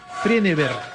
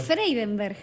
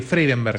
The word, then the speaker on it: Freidenberg: Freneberg. Y cuando lo pronuncias es fatal. Sí, ¿cómo no lo pronuncies más? ¿Cómo lo digo? Freidenberg. Freidenberg. Sí, tenés una N por ahí que te está molestando. Sí, Freidenberg.